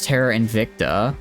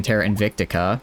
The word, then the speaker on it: Terra Invicta: Then there was Terra Invicta, which I kept saying Terra Invictica. I don't know why I added an extra syllable.